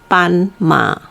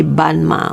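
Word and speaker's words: 斑马: zebra we call it pan ma okay remember b sound like a p sound as uh with the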